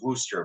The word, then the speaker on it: Worcestershire: is, a classic French's Worcester sauce. I was told that's how it's pronounced. It's written Worcestershire, but it's apparently pronounced Worcester.